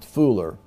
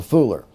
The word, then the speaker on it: fuller: fooler ful le arm is actually pronounced fooler not the fuller for the fooler and what was he